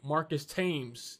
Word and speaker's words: Marcus Thames: a big fan of marcus tim's or however you want to pronounce his name marcus thames that's how i pronounce it it's not his